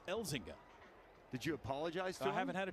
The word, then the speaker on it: Elzinga: I said his name wrong, I think, all year. I said Elzinga all season. And then he came into the radio station studio the other day and he says it's Elzinga.